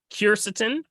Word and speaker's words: quercetin: And then my other question is, can you speak on the benefits of I think you pronounce it quercetin, Quercetin? Quercetin?